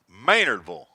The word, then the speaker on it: Maynardville: Family listening back in Maynardville Maynardville surely that's how it's said Maynardville like shille Lille swinging a Miss by